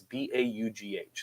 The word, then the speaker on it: Baugh: name of Kevin, and I'm going to call him Baugh. It's B-A-U-G-H, unless you give me a different pronunciation. I would think you're right.